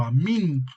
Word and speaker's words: Amén: responder Amén Recuerden que la palabra Amén o amín como se pronuncia en griego es un decir que